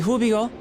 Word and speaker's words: Hubigo: The Hubigo. Oh, so they don't pronounce the G's.